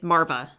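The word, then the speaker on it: Maarva: cast because I'm not gonna be able to pronounce any of these it's Marva Marva there you go um I liked her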